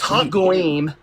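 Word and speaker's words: הגויים: First of all, you're mispronouncing it. It's hagoyim, and it means the nation, the people.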